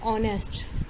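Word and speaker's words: honest: एन ऑनेस्ट, तो ये क्या है आवाज़ क्या इनमें क्या है एच क्या है साइलेंट होता है।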